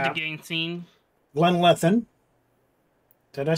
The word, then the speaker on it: Glanleathann: Glanleathann. Did I say it right, Cavalier? Glanleathann. Yep. It's called Glanleathann.